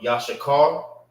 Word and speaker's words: Issachar: the ancient, the Assyrian, the name of the brother, which is Issachar or Yashakar, is how you say it in Hebrew.